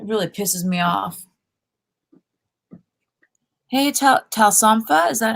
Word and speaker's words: Talsomfa: Hey, Talsomfa, is that how you pronounce it? Yeah. Talsomfa. Talsomfa.